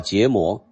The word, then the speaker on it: 羯磨: in the Palileum Collection It's called karma. The pronunciation is jiémó.